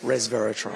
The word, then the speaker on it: resveratrol: Metformin, resveratrol, how do you pronounce it? Resveratrol.